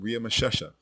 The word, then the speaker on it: Ramses: But not once does the name Ria Mashesha, which is the correct way to say Ramses, ever appear in the Hebrew Bible.